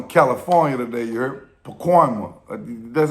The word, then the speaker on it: Pacoima: Pacoima. That's how you say it? Pacoima, you heard?